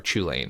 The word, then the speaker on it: Chulane: The example I gave to Ryan when we were talking about before the show is Hullen or Chulane, or however you want to pronounce it.